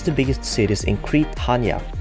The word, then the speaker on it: Chania: biggest cities in Crete, Hania. Or as it's written, Chania, but pronounced like Hania by the locals.